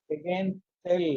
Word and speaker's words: Hagen-Poiseuille: Again, actually it is to be pronounced as Hagen-Poiseuille law.